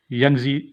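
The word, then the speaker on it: Yangtze: यंगजी इसका तलफ़ुज़ है, यंगजी पढ़ते हैं।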